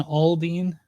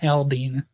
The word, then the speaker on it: Aldean: If you ever hear somebody say Jason Aldean, tell them they're wrong. It's Jason Aldean is the correct way to say it.